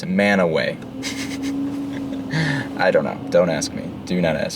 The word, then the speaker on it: Mantua: Normal person might say Mantua, right? Wrong. Utahns are super weird, and they pronounce that word right there as Manaway.